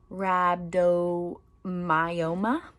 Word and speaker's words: rhabdomyoma: then it's rhabdomyoma so the way that it's spelled is r h a b d o m y o m a so rhabdom Myoma but it looks like rehab um so striated think